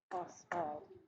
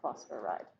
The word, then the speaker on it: phosphide: Phosphide. Only 2 syllables. Not phosphoride. Yeah?